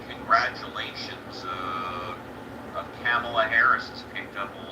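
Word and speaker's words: Kamala: I ever expected Bend it's camela because I never I never knew but then when I when I was watching part of the uh the DNC they all said so that's how it's pronounced did you watch the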